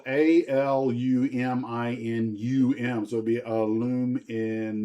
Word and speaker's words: aluminum: Um, aluminium or aluminum? Man, don't even get me started on that one. We're Americans. who say aluminum, but the Brits say it as they say. We say the right way. Aluminium. And they may be right.